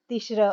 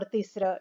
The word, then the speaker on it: Tishra: Tishra or Tisra, depending on how you say it.